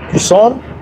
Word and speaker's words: Cousin: se escribe cousin para primo, cousin, y se escribe cousine, cousine para prima, cousin, cousin, C-O-U-S-I-N, cousin, pero se pronuncia cousin.